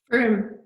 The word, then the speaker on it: Frome: I think I pronounced it right. Was it Frome? Frome.